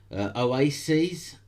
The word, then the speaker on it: Oasys: Oasis, that's spelled OASYS, has managed to get Japan's SoftBank as a network validator.